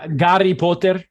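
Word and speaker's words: Гарри Поттер: with no Howard cohort and so on but Gary Potter that's my yeah which starts with H right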